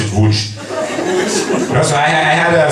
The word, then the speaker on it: Łódź: I've been to a place called Lodz. Łódź! See? It's L-O-D-Z. And they're like, no, it's Łódź. It's like, no, it's Lodz. It's like, it's Lodz. It's like, it's, we pronounce it Łódź.